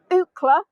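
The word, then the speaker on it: Eucla: so it was uh the town of Ookla and you spell it e-u-c-l-a um now it's in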